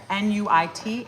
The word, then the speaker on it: Nuit: You never pronounce the last consonant in a French word. So you could say, if it says N-U-I-T, it's Nuit Fantastique.